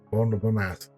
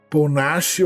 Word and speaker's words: Paul Naschy: É um gênio, Paul Nassif. Paul Nassif ou Paul Nassif, tem essas duas formas de pronunciar, mas o nome verdadeiro dele era Jacinto Molina.